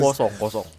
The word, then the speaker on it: croissant: Kosong. Kosong itu pelafalan dari versi bahasa Prancisnya. Kalau di Google Translate tuh memang si orang Prancis tuh kalau ngomong kosong gitu. Kosong. Mungkin kalau teman-teman mengenal itu sebagai croissant.